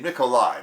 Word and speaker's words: Nikolaj: afternoon a Twitter username Nikolai now that's actually spelled with a J at the end but as you know a Slavic J is pronounced more like I or Y I've linked up I've